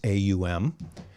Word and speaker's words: AUM: u m om we pronounce it om and we spell it o m although the original idea was aum and that word is